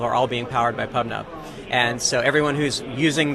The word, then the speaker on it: PubNub: I mean, we're a publish subscribe system, and so PubNub rhymes with pub sub, and it was just a good brand to go after.